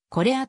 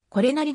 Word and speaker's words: 是也: 律令によるとほとんどの人がこれやと呼ぶのに対し本人はこれアと発音していたという一方東方之助監督である梶田興治がこれ屋さんと呼びかけたところこれなりですと訂正されたなどこれなりと読むのが正しいとする意見もある 1950